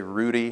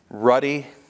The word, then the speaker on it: ruddy: is dazzling in and is it Ruddy is that how you pronounce that I always want to say Rudy but that's 1D right Ruddy he's outstanding among ten thousand